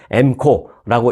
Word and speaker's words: MCO: 그래서 뭐 읽을 때는 뭐 MCO라고 읽지 않고 M코라고 읽는데요.